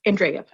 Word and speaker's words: Andreev: Row 2304 in the matter of Laura Owens versus Robert, is it Andreev? Case sounds like a Y. That helps, Andrea. Okay, that's Andreev. Yes.